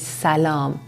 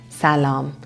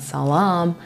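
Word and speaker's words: سلام: passion way of saying hi or hello is salam salam not salam as most foreigners pronounce it another point about this word i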